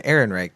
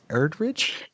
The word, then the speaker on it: Ehrenreich: And so I think as far as and you said criticism, it's Alden Ehrenreich. Did you say Erdrich?